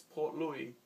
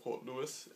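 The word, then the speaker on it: Port Louis: Yeah, Mauritius has a capital and it's Port Louie. Well, some people would call it Port Lewis, but I believe it would be pronounced Port Louie.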